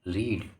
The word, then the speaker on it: read: पढ़ना ये रीड, रेड, देखो READ, ये सेम स्पेलिंग है, पर इसे क्या था, पढ़ते अलग हैं, जैसे रेड।